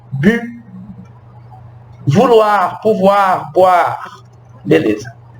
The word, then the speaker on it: bu: Ó, é como se eu estivesse falando U, a boca do U e o som do I. Bu.